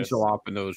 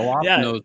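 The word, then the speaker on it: jalapeño: The jalapenos were really good. Yeah, we call them jalapenos. When I heard it, was like, what the hell? Jalapenos? No, we call them jalapenos here.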